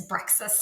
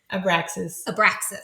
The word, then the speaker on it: Abraxas: So they end up pairing up as, how do you say his name? Abraxas. Yes. I think I said it's Brexus or something like that. I told you I'm going to add sounds. What is it? Abraxas.